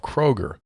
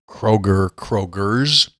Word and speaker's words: Kroger: again correct in his pronunciation of Kroger. There's no S on the end.